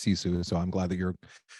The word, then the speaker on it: Sisu: a lot of fun I've been mispronouncing it going to sisu which I was told beforehand that it's sisu so I'm glad that